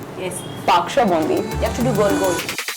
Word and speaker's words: Baksho Bondi: pronounced this right. Baksho Bondi. Baksho Bondi. Yes. Baksho Bondi.